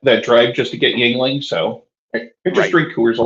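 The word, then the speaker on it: Yuengling: the bartender rolls his eyes and says it's pronounced yling oh okay well we don't get it I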